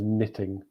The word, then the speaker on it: knitting: yeah next one is knitting the pronunciation is knitting like there's no k knitting and knitting is